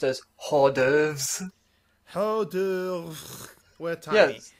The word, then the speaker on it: hors d'oeuvres: They're usually pronounced as hors d'oeuvres.